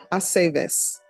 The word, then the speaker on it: Aceves: It's always ve. Ve, Aceves.